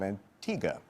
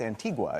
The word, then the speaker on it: Antigua: We frequently give away trips, as we did tonight, to the island of Antigga, but when you look at it, it looks like it's Antigua. It's spelled that way.